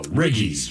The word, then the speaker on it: Riggies: Chicken wiggles. I'm assuming they spell it with an R. I g L E S. Okay. I G I E S. Oh, riggies.